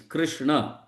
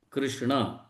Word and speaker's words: Krishna: Or okay, okay, okay, Just to make correct us, that has been said that we should correctly announce or pronounce the names Krishna, not Krishna. Krishna.